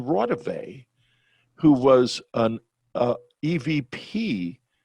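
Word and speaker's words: Raudive: he had mispronounced it it wasn't raw dive it was constantine rotavey who was an uh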